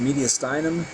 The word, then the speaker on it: mediastinum: medyum right there so that's pronounced mediastinum kind of sounds like sternum and media sounds like medial which is true it's in the middle medial and steum under the sternum it divides it in